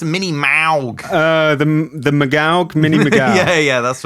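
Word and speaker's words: Minimoog: I think it's pronounced Mini-Maug.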